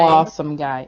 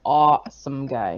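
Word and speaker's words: AWESOMEGUY: awesome guy. It's awesome guy. Oh, we have to enunciate the W.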